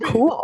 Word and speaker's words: Kuhl: The best place to find me is over on Twitter, where I'm at cat_cool_ with cool spelled like my last name, KUHL.